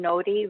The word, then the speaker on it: Nori: Again, Nori, N-O-R-I, but you pronounce the R like a D.